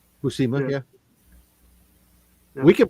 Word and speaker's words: Buscema: Buscema? All right. Buscema, yeah. We can pronounce it however we want.